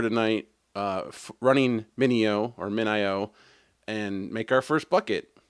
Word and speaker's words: MinIO: realized that a company called Min IO which is how I'm going to pronounce it other people call it Mineo which okay um but